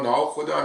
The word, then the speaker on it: ناخدا: در مرور زمان ا واش یواش یواش ک تلفظ نشده شده ناو خدا ناخدا ناخدا شده ناخدا و الان ناخدا یک به